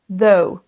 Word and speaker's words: though: Ce mot se prononce though. Though. Vous avez le son TH comme le mot précédent, the, et ensuite on a un son O et un son OU juste après. Though. Though. On a un son O et U, donc c'est une diphtongue, c'est un son double.